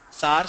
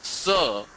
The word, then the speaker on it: sir: SAR, SAR, SAR, SAR. Sometimes I wonder if people spell S-A-A-R. It's not SAR, it's sir.